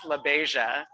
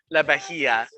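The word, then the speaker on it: LaBeija: me so she's from so her name is pronounced labaisia so she's from the iconic house of la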